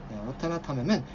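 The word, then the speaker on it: วัฒนธรรม: 와타나탐 하시면 요게 자, 마지막 판서니까 천천히 적어드려 볼게요. 와타나탐하면 여기 문화라는 뜻이 있고요. 와타나탐이지만 그냥 평성으로 편하게 다 와타나탐 합니다.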